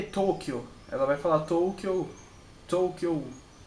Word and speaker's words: Tokyo: Você não vai pronunciar o U, é O. Você vai prolongar o som do O. Então é Tokyo, não é Toukyo. Entendeu? É Tokyo.